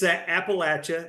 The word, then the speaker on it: Appalachia: it's Appalachia, and the easy way to remember it is we throw an apple at you.